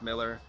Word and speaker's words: Millar: He goes, I know everyone thinks it's Miller. He goes, maybe he spells it Millar. I'm saying Millar.